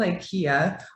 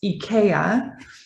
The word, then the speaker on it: IKEA: of it it's um called ikea or better pronounced ikea in america